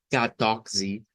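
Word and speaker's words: catorze: Y habíamos dicho que esto sonaba más o menos así, como Mateos, Sechi, y luego decíamos que el número 14 debemos decirlo como catoxi, catoxi.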